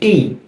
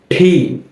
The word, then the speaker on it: T: এরপর যে বর্ণটা, এটাকে আমরা বলি টি। টি, তবে এর সঠিক উচ্চারণ হচ্ছে ঠি।